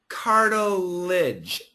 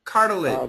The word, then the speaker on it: cartilage: The second word we do need to keep this syllable. Cartilage. And make sure Cooney when you do the L use your teeth. Cartilage. Cartilage.